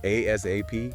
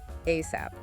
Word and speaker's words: ASAP: You can say the letters ASAP. Yep. ASAP. Or pronounce it like a word ASAP.